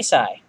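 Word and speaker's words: Sei: name sweetie call me Sai all right Sai I'm Dorothy say Sai oh dear yes yes say say yes yes oh my God is her okay so it's pronounced say apparently because she's still saying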